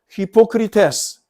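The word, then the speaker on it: ὑποκριτής: 여기서 말하는 외식은 여기서 말하는 외식은 헬라로 히포크리테스 위선이란 말이에요. 위선자. 영어로도 발음이 헬라와 비슷합니다.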